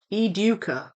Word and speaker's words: Educa: Maybe the Spanish is something like eduka. Eduka. See the word duke. I would say it duke.